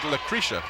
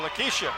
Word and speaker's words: Lakeisha: What was I calling her? Well, I thought you said Lucretia. No, Lakeisha.